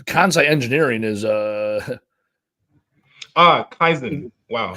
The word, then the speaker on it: Kaizen: That's a Kai engineering is uh ah Kaizen. Wow. Kaizen. Kaizen. So off. Sorry. How do you spell that?